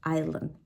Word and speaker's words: island: B is silent and the S can also be silent like in the word Island this is actually a